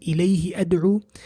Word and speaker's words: إِلَيْهِ أَدْعُوا: Pronunciation, we pronounce this one connected, قُلِ ادْعُوا, whereas this one we pronounce independently, إِلَيْهِ أَدْعُوا.